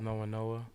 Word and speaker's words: No1-Noah: It's No1-Noah. No1-Noah, man. No1-Noah. Yeah. No1-Noah. So what's the significance of that? Because it's different. I see it's N-O-1. Yeah. So why is it spelled like that?